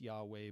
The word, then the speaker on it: Yahweh: say historically you know it would have been pronounced yahweh but in the 3rd century BC there's a clear movement away from that and um you can